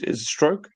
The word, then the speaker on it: Struijk: Is Struijk? Have I butchered that? Strike. Pascal Struijk, yeah.